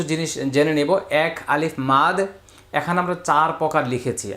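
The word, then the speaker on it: مد: মানে আসলে মদ না উচ্চারণ মাদ মাদ মাদ অন্ততপক্ষে আমরা মাদ বলব আর কি আমরা মদ না বলি মাদ মাদ এটা সবাই ঠিক করে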